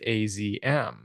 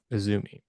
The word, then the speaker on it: AZM: that must be pronounced azm but it's just a stylized way of writing Azumi so yeah and then